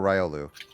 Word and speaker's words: Riolu: They call it Riolu or Rayolu.